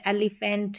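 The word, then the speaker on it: elephant: है first sound जैसे एलीफेंट है और डॉल्फिन है फर्स्ट साउंड के लिए यहां पर पीएच का यूज हुआ एलीफेंट यहां पर हम पीएच की जगह एफ तो नहीं लगाते हैं तो एलीफेंट में फर्स्ट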